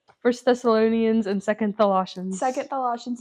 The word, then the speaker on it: Thessalonians: myself together I will say it wrong first Thessalonians and second Colossians second Colossians is very important